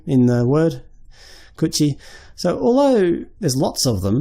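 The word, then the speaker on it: 口: It's pronounced kuchi.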